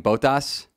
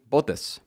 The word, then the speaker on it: Bottas: 4 months for saying Bottas, kind of like, you know, the American way, I guess, of saying it, Bottas, but it's apparently Bottas.